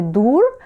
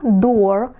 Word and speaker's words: door: Ми пам'ятаємо, що дві о - це у, а тут раз і несподіванка, тому що двері - це вже не дур, а door.